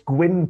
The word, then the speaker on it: Gwyn: quick tutorial yeah yeah it's it's gwyn price okay quinn quinn quinn um so yeah so